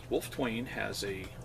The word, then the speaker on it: Wolfetwain: The funny part about the name, Wolfetwain it's Wolf, silent E, Twain. When I got my Knight Scroll, it didn't have the silent E in Wolfetwain.